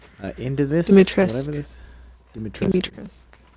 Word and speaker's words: Dimitrescu: Dimitrescu. No, you don't pronounce the U. It turns out the U. It turns out the U at the end. Oh, silent. It's actually silent. It's pronounced D-E-E-M. Dimitrescu.